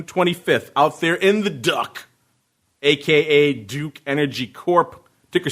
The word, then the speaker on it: DUK: out there in the duck AKA Duke Energy Corp ticker symbol du supposed to be pronounced Duke I just like calling